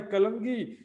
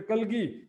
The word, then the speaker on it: कलगी: करें और का भाई कलंगी इस समय कलगी कलंगी लिखें सुंदरसाथजी शुद्ध उच्चारण है कलगी कलगी जो है यहां